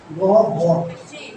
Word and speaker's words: গহ্বর: কোষ ঝিল্লি, কোষ গহ্বর, গহ্বর, গ উচ্চারণ কিন্তু।